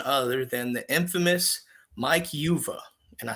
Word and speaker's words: Uva: And with me, none other than the infamous Mike Yuva. And I said that right. He has to pronounce it on his Twitter.